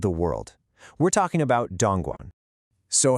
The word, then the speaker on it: Dongguan: It's Dongguan, pronounced Dongguan.